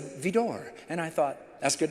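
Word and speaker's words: Widor: Well, I was impressed that he knew to say Vidor when it's spelled W-I-D-O-R, that he said Vidor.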